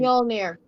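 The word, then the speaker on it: Mjölnir: Mjolnir. Mjolnir.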